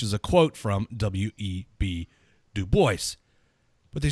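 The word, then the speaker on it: Du Bois: atten mention to the fact that um web de Boyce which I am I yes I am pronouncing that properly some people like no it's it's dubo it's dubo because the man himself said that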